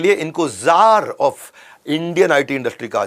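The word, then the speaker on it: czar: जार कौन होते हैं? ये लगभग राजा महाराजा जैसे लोग होते हैं रशिया के अंदर, उनको जार बोला जाता है। वैसे सी जार होता है लेकिन सी साइलेंट होता है, ये इंडियन आईटी इंडस्ट्री में।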